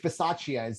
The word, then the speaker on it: Bisaccia: They'll be back at home, but they have a guy in, is it Rich Bisaccia? Am I getting that pronunciation correct?